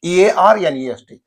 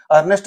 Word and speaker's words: earnest: e r n EST e a r n EST this is same spelling okay Earnest or Nest but here in this a silent earnest earnest same pronunciation but here the spelling